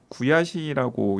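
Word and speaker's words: 悔しい: 근데 일본의 억울하다는 한자로는 똑같고 구야시라고 이제 발음을 하는데 자신이 마음먹은 대로 일이 이루어지지 않거나 남과의 경쟁에서 피하거나 남이 자신에게 해코지를 분하거나 유감의 심장이 되는 것.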